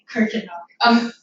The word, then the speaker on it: Kuykendall: Kuykendall.